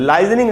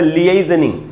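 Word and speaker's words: liaisoning: लाइजनिंग नहीं होता है दोस्तों, ये होता है लिएजनिंग।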